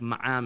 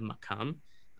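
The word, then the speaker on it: مقام: But in the Syrian dialect, most often, the Kof is not pronounced at all. It's treated like an Aleph. So you get words like Ma'am instead of Makam.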